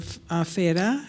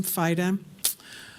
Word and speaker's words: Feda: Feda. Am I pronouncing your last name? Fida.